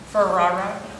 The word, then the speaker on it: Ferrara: So and Jacob Ferrara, I always say it wrong. For real. Ferrar. So, hello all, my name is Ferrara, it's my son Jacob.